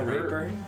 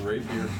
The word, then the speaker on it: rapier: A raper? The rapier.